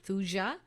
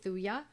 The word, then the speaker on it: thuja: some people pronounce it thuja but it's many of us pronounce it with a silent j thuya um and so it's